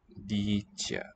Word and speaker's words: dítě: And then it's dítě. Two modified vowels, long E, and the prepalatalized ye.